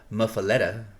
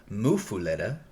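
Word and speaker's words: muffuletta: Louisiana is depending on where you're from, you pronounce it differently. Google says muffaletta, and then there's also one that says people in Louisiana in certain areas call it a mufuletta.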